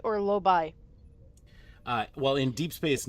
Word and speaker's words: Lobi: And then then Sir Gordon ends up saying saying it's pronounced lobe, but the I is silent.